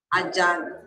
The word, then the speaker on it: Jan: Jan. Jan, hindi June.